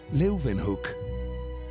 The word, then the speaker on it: Leeuwenhoek: Leuven se pronuncian con una B, hook, Leeuwenhoek. Anthony van Leeuwenhoek, he was a haberdasher.